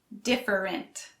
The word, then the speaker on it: different: For this next one, you don't actually pronounce all three syllables. Different. You just pronounce the first and last one.